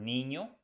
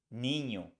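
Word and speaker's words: niño: a line on top you pronounce this letter like the word Canyon so we pronounce um like Canyon an example in Spanish is the word Nino which means boy Nino Nino the next is Spellbound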